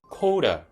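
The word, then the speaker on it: collar: 근데 영어로는 카라를 카라라고 발음하지 않습니다. 영어로는 coater 라고 발음을 합니다.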